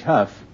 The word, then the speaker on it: Hough: say you pronounce h o u g h Huff how do you pronounce uh d o u g that's do